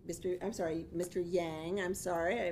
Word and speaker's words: Yang: yang I'm sorry I mispronounced your name already we have members of